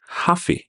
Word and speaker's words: hafi: when using the word have though by itself it sometimes loses the ve ending and it's pronounced ha so for example so in conversation we usually marry ha with FEI and at full speed it becomes happy so whenever you hear the heavily used hafi it means have to